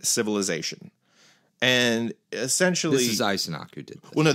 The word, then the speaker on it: Eisenach: Gingrich, it's not even with how do you pronounce his name again? Eisenach.